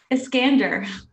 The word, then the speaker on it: Eskander: because a lot of people get my last name wrong iskander thank you for doing that because it's just